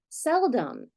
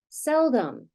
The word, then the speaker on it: seldom: making an unexpected sound this o is not making its anticipated short vow sound it's flexing to something like the short u phon listen again seldom got that uh sound if a vow is